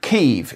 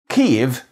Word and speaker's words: Kyiv: the sound sequence yi, like the beginning of the English word yeast.